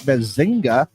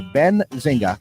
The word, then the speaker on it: Benzinga: In fact, I saw that Bazinga or Benzinga, got to say it right, says that many households are reconsidering handing out Halloween candy this year.